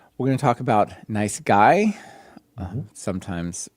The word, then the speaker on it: NiceGUI: We're going to talk about nice guy. sometimes said nice gooey but we're going to learn that it's nice guy and basically a a